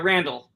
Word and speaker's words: Randol: Is it Randol? Correct. Yeah, Randol. Just like it would be pronounced if it was Randall, but it's just DOL.